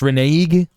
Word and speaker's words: renege: It's pronounced renege. Yeah, renege, innit?